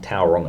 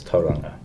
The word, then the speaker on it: Tauranga: Most people, like at schools, we teach like the Māori pronunciation. So, that's just what we do. Like it's not Tauranga, it's Tauranga.